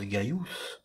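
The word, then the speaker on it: Gaius: et on l'a atteint le prénom qui se prononce gaillous se note en raccourci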